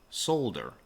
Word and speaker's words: solder: ready to solder up solder it's pronounced like folder so I can solder all